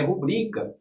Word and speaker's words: rubrica: Eu tenho 23 anos de idade e não tenho uma rúbrica, graças a Deus, porque não é rúbrica, é rubrica. Certo?